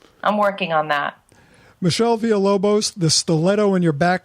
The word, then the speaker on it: Villalobos: And that, for the gringos listening, that's Villalobos.